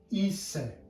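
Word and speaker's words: είσαι: have an E, and when they are together they make the sound E. Take a moment to think how this is pronounced. So this is pronounced pos ise, and because it's a question, that would be pos ise.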